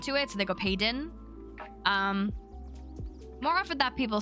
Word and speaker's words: Payton: So my name is Payton. The soft T. Some people say my name like Payton. Payton. Which is close, but it's kind of a soft T and more of a Payton.